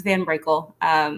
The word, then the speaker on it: van Brickell: no no you actually got it really well it's van Brickell I did it yeah